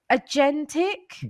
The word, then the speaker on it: agentic: I'm hearing this word I don't know if I'm saying it right okay agentic go for it that was perfect oh oh there you